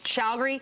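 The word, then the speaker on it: Chagoury: How do you pronounce his last name? Shougri.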